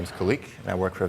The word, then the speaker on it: Khaliq: third-party services as Jeremy said my name is kalique and I work for a vector Media Group so my name is pronounced leek and that actually means creative I